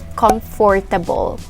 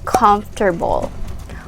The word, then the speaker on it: comfortable: is also commonly mispronounced i hear it oftentimes pronounced as comfortable or comfortable in some cases but it is actually pronounced as comfortable comfortable say it okay so if something is